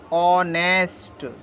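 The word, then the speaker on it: honest: आवर H silent है एच ओ एनई एसटी को पढ़ेंगे हम ऑनेस्ट क्योंकि एच साइलेंट है एच को बोला ही नहीं जा रहा है सी साइलेंट के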